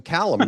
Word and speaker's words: Calame: well I've got success magazine Jackson Callum now I pronounced your name correctly thank you for that